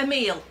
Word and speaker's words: Emile: How do you pronounce that? It's Emile.